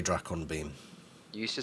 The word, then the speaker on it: Dracon: So yeah, there's quite a lot of confirmation that it is Drake on beams.